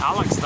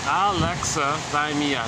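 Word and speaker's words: alexithymia: series I've been saying Alex D and then finally somebody pointed out oh you got a pronounce Alexa time here I think there's six syllables in there ah Alex Alexa Alexa Mia six syllables with a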